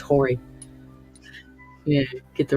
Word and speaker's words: Horry: But North Myrtle Beach in South Carolina, there's a county out there called Horry. They pronounce it Ori. I was like, nah, you bitches are all for sale. It's Horry.